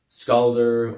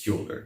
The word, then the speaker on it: Skjoldr: There are even folks in my kindred that will pronounce it Skaldr or Skildr or other various ways, and it's Skjoldr. If you pronounce it a different way, you're saying a different word.